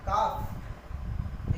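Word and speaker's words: calf: जब AOU के बाद एल आता है, AOU के बाद एल आता है तो लेटर एल साइलेंट हो जाता है। जैसे कि टॉक, टॉक, ए के बाद एल आया। काफ, ए के बाद एल आया।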